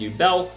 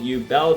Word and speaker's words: Yubel: have three copies of you Bell three copies of you Belle does that's probably mispronounced but I'm pronouncing it how the Japanese do it all right all right